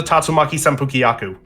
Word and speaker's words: Tatsumaki Senpukyaku: Jetpacks, and apparently she's a fan of Street Fighter because she can just do the Tatsumaki Senpukyaku.